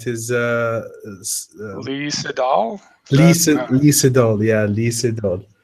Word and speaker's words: Lee Sedol: Is that Lee Sedol. Yeah, Lee Sedol. And Sedol is actually two two different portions. So it's C and Dol.